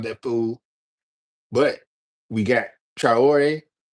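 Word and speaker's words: Traoré: But we got Trayore. Trior.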